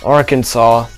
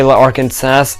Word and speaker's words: Arkansas: my really down upon if you mispronounce Arkansas in Arkansas so if you say larkin SAS people will look really down upon you we've always wanted to